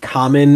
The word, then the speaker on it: Kamen: Um, Common Rider Dragon Knight. Common is spelled Kamen.